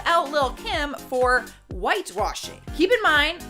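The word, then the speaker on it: Lil' Kim: Up next, number 9 is Little Kim. Or Lil Kim. I feel like that is the proper way to say it.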